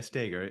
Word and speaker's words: Stager: Is it Seeger or Sager? Yeah, Stager. You've been saying it right, yeah. Okay, Sager, okay. And is there a T in it or is it Seger? It's Stager, yeah, with a T.